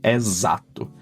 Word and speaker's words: exato: Every time you see a word that starts with E followed by X, it's 99% chance that this word is pronounced like Z. Like in exato, exact. So it's not x like English, exact. No, exato, have sound of Z.